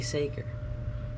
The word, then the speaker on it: Saker: It could be pronounced Sacker or It's Saker. Saker. It's obviously Saker.